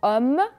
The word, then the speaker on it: homme: Vous allez remarquer que le H ne se prononce pas. Comme dans homme, heureux, hôpital, habiter, 8 et heure.